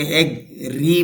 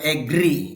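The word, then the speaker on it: agree: এগ্রি রাজি হওয়া, এগ্রি, অনেকে এগ্রি বলেন, এগ্রি না। এ সাউন্ড প্রথমে আলাদা বলবেন, পরে বলবেন গ্রি, তাহলে উচ্চারণটা হবে এগ্রি, এগ্রি রাজি হওয়া।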